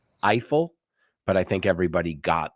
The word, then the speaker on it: Eiffel: for you now again we don't pronounce his name I fell we pronounce it Eiffel but I think everybody got the joke so his name you say AFL we say Eiffel I